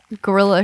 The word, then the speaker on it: guerrilla: The one part I was involved in, we had to do a guerrilla shooting. Is that how you say it? Yeah. Guerrilla. Like the war.